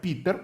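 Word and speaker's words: Peter: поширено в усі часи в Англії його вимовляють як Пітер у Німеччині Петр у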